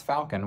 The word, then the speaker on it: falcon: Again, that word was borrowed from French without an L, and now 97% of English speakers pronounce falcon with an L.